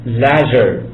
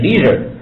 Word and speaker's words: leisure: 在英式发音中读成 leisure，啊，美音是 leisure，啊，leisure time 意思指的是休闲时间。